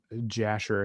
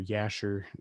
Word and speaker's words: Jasher: biblical text like the book of jasher i think or yasher depending on how you pronounce it it's an extra